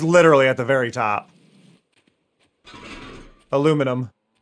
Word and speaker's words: aluminum: It's aluminum. It's spelled differently. You wrote aluminium, but that is aluminum in the states. Well, Finn, they wrote Aluminium. So aluminium the the the spelling is different.